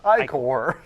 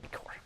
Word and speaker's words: ichor: That's pronounced ichor. I would say ichor.